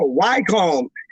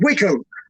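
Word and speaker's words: Wycombe: crossed one place and it was spelled w-y-c-o-m-b-e so what would you call it i was like oh why calm she's like no that's not why i called you it's called wickham i'm like oh okay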